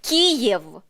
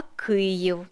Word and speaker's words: Київ: оригінальні російські назви мовляв не Київ а Київ не Харков а Харків не